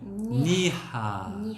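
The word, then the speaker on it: 나이스: 발음에 주의하실 것은 뭐냐면 여기서 처음에 입술을 붙여서 발음이 나요. 붙여서 에서 출발하기 때문에 니하 니하 니하. 근데 한국 사람들은 익숙치가 않아서 이라고 하는 음절을 말을 하고 니하 이렇게 니하.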